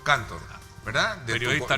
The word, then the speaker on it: Cantor: ¿cómo se pronuncia? Cantor, ¿verdad?